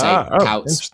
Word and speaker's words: Kuyt: It's got the same sounding as Dirk Kuyt. So you say Kuyt, you say Cruyff.